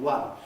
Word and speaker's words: one: obviously you know they they let the v at the end of love contaminate the w at the beginning of one because the word spell o n e one of the nastiest spellings in english language isn't it it begins with a vowel letter but the spoken